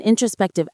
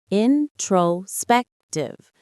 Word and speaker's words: introspective: Introspective. Introspective. The main stress is on the third syllable.